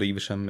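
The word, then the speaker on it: Evesham: pretty much yeah and so a place called ibishum it's literally eviscerant evisceration are you kidding me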